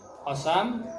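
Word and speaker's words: قسم: Qasam, nida dan la yang menafikan. Bacanya qasam ya, jangan qasam ya.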